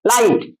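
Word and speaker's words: light: এই জি এইচ টি এই তিনটে লেটারের জন্য শুধু ট উচ্চারণ করব।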